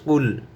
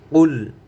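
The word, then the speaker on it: قُلْ: কফ লাম পেশ কুল, কুল। আপনারা সবাই খেয়াল করবেন জানি এখানে কুল না হয়ে যায়, কুল, কুল।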